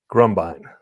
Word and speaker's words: Grumbine: Grumbine.